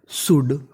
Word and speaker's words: should: इसे पढ़ते हैं हम लोग शुड, शुड। इसमें हमारा एल साइलेंट रहता है तो मीनिंग बनेगी शुड।